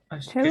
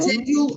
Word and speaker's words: schedule: You can say schedule or you can say schedule. Both are correct.